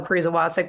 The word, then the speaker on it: Pariza Wacek: So if you search for me for, you'll find it, but it's Pariza Wacek, Pariza Wacek. But yes, spelling it and pronouncing it is difficult.